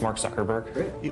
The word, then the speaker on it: Mark Zuckerberg: Can you just say your name and pronounce it so nobody messes it up and they have it on tape? Sure. It's Mark Zuckerberg.